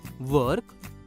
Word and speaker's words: work: WORK का उच्चारण होगा वर्क।